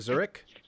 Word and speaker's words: Zurich: shooting in Zur Phelps Zurich Zurich Phelps that's how you say it Zurich yeah Zurich Zurich is